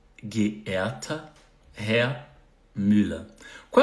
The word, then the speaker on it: geehrter: Aqui essa palavra parece complicada na pronúncia, mas você vai dividir em 3 momentos. Ge. Então, primeiro GE aqui fica G. Depois tem E, onde tem EHR fica E. E o TER fica Ta. Então, geehrter.